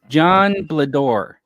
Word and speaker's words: Blador: So you got like Blador. Blador. Oh, it's like Dumbledore, but it's Blador.